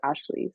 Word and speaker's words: Ashlye: That's my Instagram, and then my Spotify or like my music platforms is just Ashley. So Ashlye. It's actually Yeah. better that it's spelled differently because when I search on Spotify, it's the only one there.